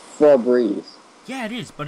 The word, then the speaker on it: Febreze: It's Febreze. Yeah, it is, but it's spelled F...